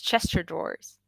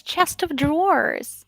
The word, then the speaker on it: chest of drawers: chester drawers my friend literally uh thought it's pronounced like this chester drawers and i was like no it's uh am